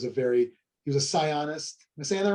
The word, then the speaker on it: psionist: very he was a psionist ms santa right sianist yeah scientist how do you say that word mike i don't know p-s-i-o-n-i-s-t scionist yeah not a scientist that's not no yes